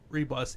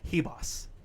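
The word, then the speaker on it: Ribas: You don't pronounce her name Amanda Rebus. It's Amanda Hebos, supposedly. How? That's like Andrade. There's no G. Damn Spanish names. So Amanda Hebos Hebus.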